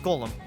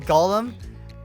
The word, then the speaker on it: Golem: good graveler golem golem no it's golem i was watching a